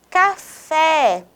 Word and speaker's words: café: a tonicidade mais forte café fé é a sílaba da palavra café com mais tonicidade e você se da